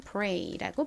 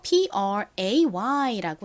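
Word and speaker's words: prey: 한국식으로는 pray라고 쓰고 실제 발음은 pray라고 발음이 됩니다. 이 단어의 의미는 먹잇감, 사냥감이죠. E를 A로 바꿔서 P-R-A-Y라고 쓰면 의미가 뭔가요? 기도하다입니다. 기도하다. 발음은 앞에서 봤던 먹잇감 P-R-E-Y랑 동일하게 pray라고 발음되죠.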